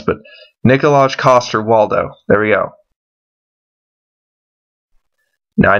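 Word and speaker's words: Nikolaj Coster-Waldau: at the this guy's name is hard to pronounce but nikolaj cost her Waldo there we go now I know he's Jamie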